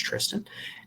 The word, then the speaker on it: Tristan: up again followed by Tristan Lawrence um I do believe that is pronounced Tristan followed by Novak Soderberg